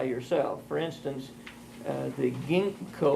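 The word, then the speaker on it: Ginkgo: for instance uh the Ginko or Ginko it's very hard to pronounce that correctly but it's spelled g n k g o and I believe comes from Japanese I'm not certain of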